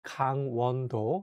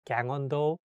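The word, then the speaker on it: 강원도: province in south korea so when you say the name of this province make sure to say kang wando not like gang ondo i can see some foreigners they say g-a-n-g as gang but in korean you have to say kang with the strong a sound so make sure to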